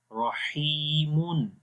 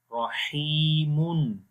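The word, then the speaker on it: رحيمٌ: Okay, so in written we will write double Dammah, but in reading there will be Noon Sakin sound in the end, as you pronounced as Rahimun. Rahimun, the Noon sound, right?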